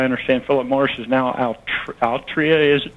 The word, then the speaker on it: Altria: I understand Philip Morris is now Altria, is it pronounced?